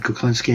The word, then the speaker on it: Kuklinski: well as you said my name is kuclinski and you pronounced it right so i'm so happy but